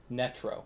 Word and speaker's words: Netro: Netro.